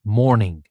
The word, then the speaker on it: mourning: rather than just about mourning. And mourning here is not just like good morning, it's spelled differently, the same pronunciation, but the spelling is different.